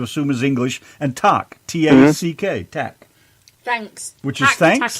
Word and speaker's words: Tack: T-A-C-K.